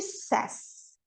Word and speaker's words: says: Mas quando a gente coloca esse S aqui, quando for he, she ou it, a gente muda a pronúncia para says.